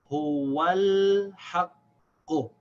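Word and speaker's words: هُوَ الْحَقُّ: So now, in the second example, the Hamza al-Wasl is not the first letter, so we don't pronounce it, it's silent.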